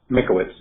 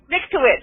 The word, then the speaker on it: Mankiewicz: He did this with me, said Tom Mankiewicz, I think you pronounced that, right, of Superman, the Superman movie. How do you pronounce his name, Steve? Mankiewicz. Mankiewicz, yep.